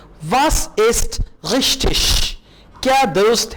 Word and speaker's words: richtig: Was ist, what is richtig? अब देखें यहां पे G I के बाद आ रहा है, तो जब भी G I के बाद आएगा आप उसको शीन कह के प्रोनाउंस करेंगे।